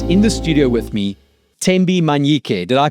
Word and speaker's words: Thembi Manyike: So excited to have in office in the studio with me TMBI Manik. Did I pronounce that correctly TMI?